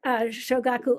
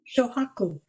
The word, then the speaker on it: Shohaku: But this is about Shogaku Okamura. Shohaku. So what? Shohaku. Oh, so Shohaku Okamura. It's not pronounced.